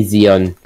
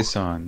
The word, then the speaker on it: Xion: fudge what was that still can't pronounce my name right holy crap I say Xion I know they say son my god I say